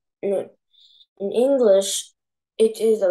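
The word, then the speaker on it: نون: pronounced Noon.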